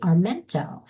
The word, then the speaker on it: Armento: And her name is Armento. Did I pronounce that correctly, You?